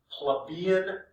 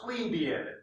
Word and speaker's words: plebeian: 494 bc and it's called the plebeian secession or plebeian you know some people pronounce it differently during this secession the